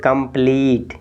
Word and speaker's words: complete: तो देखिए ई के जस्ट बाद टी है यानी व्यंजन है, फिर ई है, तो इस वाले ई को आप बड़ी ई की मात्रा से यानी उच्चारण करेंगे। तो पढ़िए कंप्लीट।